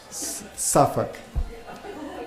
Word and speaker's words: Suffolk: Suffolk.